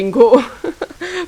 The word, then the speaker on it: Ingo: it basil um and Ingo is actually Ingo pronounced in German so it's it's a quite German name actually um so yeah now